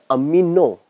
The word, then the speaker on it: amino: we call as a pronounciation is amino it's not amine it's the amino when more than one